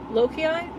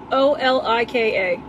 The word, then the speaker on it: Olika: I'm not sure how to pronounce the brand. Lokia? Olika. There we go.